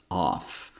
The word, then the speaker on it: of: as in C of off of is pronounced with the uh sound and F here actually sounds like a V sound now off is pronounced